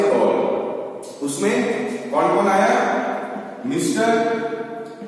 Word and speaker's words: Gaulle: ये Charles day GAULLE, गॉली नहीं, गोल।